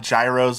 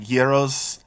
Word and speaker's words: gyros: They're not they're they're not heros, they're not gyros, they're like geros, those sandwiches.